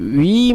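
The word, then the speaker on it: huit: এর উচ্চারণটি হবে ওনস, যেটি নাক থেকে আসতে হবে, এবং এটির উচ্চারণ হবে উই, অথবা যেভাবে আমরা ইংলিশে উই বলি সেইভাবে।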